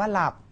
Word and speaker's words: หลับ: นำ นะ ครับ หรือ คำ ว่า หลับ หอ หีบ นำ ลอ ลิง นะ ครับ อ่าน ว่า หลับ นะ ครับ หร เป็น อักษร นำ นะ ครับ ไม่ ใช่ อักษร ควบ กล้ำ นี่ ก็ จะ เป็น